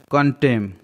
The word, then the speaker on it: contemn: कंटेम, CONTEMN, कंटेम, यहाँ पर भी M और N साथ में है तो N साइलेंट है।